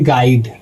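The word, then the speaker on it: guide: है तो यहां पर यू हो जाएगा दोस्तों साइलेंट तो इसको पढ़ेंगे गाइड अगला है दोस्तों गार्ड जो यू है दोस्तों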